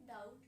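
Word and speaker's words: doubt: डाउट। डाउट में मैंने लिखा हुआ है कि बी साइलेंट है।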